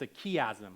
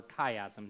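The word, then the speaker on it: chiasm: in a chastic structure it's aasm or kaym depending on how you want to pronounce it aasm is a uh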